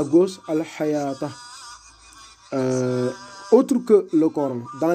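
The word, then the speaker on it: الحيوة: Et ce waw-là, on ne le prononce pas, tout simplement. On allonge comme si c'était un alif dans l'écriture hors coranique.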